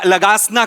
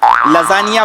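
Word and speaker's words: lasagna: दिवशी आपण हा खाऊया लगासना खाऊया लगासना तुमच्या बापानी केला होता लगासना लजानिया बोलता येत नाही स्पेलिंग वाचून लगाना बोलता तुम्ही तुमच्या बापाने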